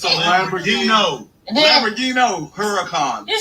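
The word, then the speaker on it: Huracán: Because at Firehouse, pronounce it. Huracan. It's a Lamborghini. Lamborghini Huracan.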